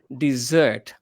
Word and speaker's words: dessert: So that is called dessert. dessert? Dessert. Dessert, right? Spelling is DESSERT, dessert. But the place where we